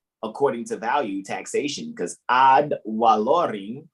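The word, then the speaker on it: ad valorem: to value taxation because odd wa lorry because in the latin the v is pronounced like the w ah taxation and then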